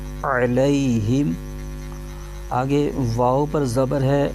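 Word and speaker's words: عَلَيْهِمْ: کے ساتھ ملائیں گے۔ اس کے ہجے یوں کریں گے، عین زبر ع، لام یا زبر لی، علی، ہا میم زیر ہم، علیہم۔ آگے واو پر زبر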